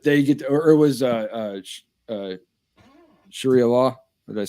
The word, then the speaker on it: Sharia: jealousy, like that they get, or it was Sharia law. Did I say it right? Yeah. Sharia law.